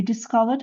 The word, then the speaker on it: discovered: Oh, by the way, discovered is number one as well. Discovered. Discovered. It's just sound, vowel sound. Гласности звук поэтому тоже читается как d.